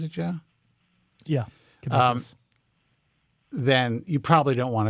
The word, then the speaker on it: caduceus: Is that how you pronounce it, Joe? Yeah, Caduceus.